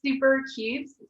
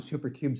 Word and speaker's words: SouperCubes: It's SouperCubes, so spelled like soup, SOUPER, cubes.